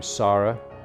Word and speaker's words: Sara: Hilary, and then came Sarah. That's how we pronounce S-A-R-A. In England it's pronounced Sarah, not Sarah.